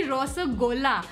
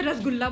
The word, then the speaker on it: रसगुल्ला: तो वापस आते हुए हमारी नेक्स्ट रिक्वेस्ट थी रसगुल्ला। आई गेस इसको ऐसे ही प्रोनाउंस करते हैं बट दिल्ली में फॉर सम रीजन सब इसे रसगुल्ला बोलते हैं। लाइक मैंने बचपन से रसगुल्ला ही सुना है तो मैं भी ऐसे ही बोलती हूँ।